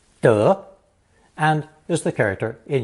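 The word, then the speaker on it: 德: form of the character pronounced second tone duh indicating rectitude of the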